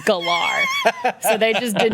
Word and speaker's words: Galar: I mean, it's Galar in region. You have the R.